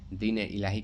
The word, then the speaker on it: दीन-ए-इलाही: दीन-ए-इलाही कब शुरू किया था? दीन-ए इलाही। ठीक है? ये सही है उच्चारण।